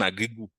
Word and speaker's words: Agrigou: agri, où il y a le préfixe agri qui signifie terre, et aussi agri, et, et goût, le goût en créole, G-O-U, c'est goût en créole. Donc, ça sonne comme le français, mais ça s'écrit sans le T. Donc, goût. Donc, ça nous donne agri-goût.